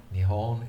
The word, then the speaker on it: Nihon: It has 2 pronunciation options. Nihon is by far the most popular, but when somebody is being very formal, they will say Nippon.